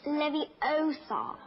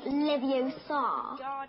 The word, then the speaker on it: Leviosa: Besides, you're saying it wrong. It's Leviosa, not Leviosa. You do it then if you're so clever.